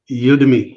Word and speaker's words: Udemy: Udemy, yeah.